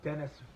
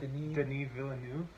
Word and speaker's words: Denis Villeneuve: It's not Dennis. What? How do you say it? Denis Villeneuve.